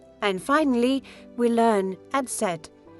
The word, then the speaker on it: Eszett: And finally, we learn Eszett is called Eszett or sharp S. This letter sounds like a double S and appears in many German words.